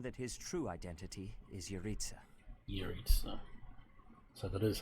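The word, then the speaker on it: Jeritza: plausible to assume that his true identity is uriza so that is how you pronounce it and we cannot forget about the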